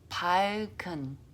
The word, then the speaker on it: 밝은: It's pronounced as 밝은. So now this one is pronounced with L, and then the g sound goes to the next letter, because the next letter starts with a vowel, so it's 발, and the g goes next.